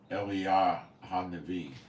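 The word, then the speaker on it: אליהו הנביא: It would be pronounced Eliah HaNavi, the prophet, before the coming of the great and dreadful day of the Lord.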